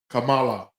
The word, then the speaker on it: Kamala: So it's the three syllables. It's Kamala. Yeah, most people say Kamala. I Kamala. Say some people say Kamala. That's still three syllables. Kamala. So it's three syllables. However you shake it.